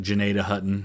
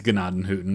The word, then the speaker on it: Gnadenhutten: I think they pronounce it Gnadenhutten now, but it's Gnadenhutten. That's how it should be in German.